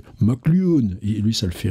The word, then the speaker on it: McLuhan: J'ai appris récemment, on ne dit pas McLuhan, on dit McLuhan.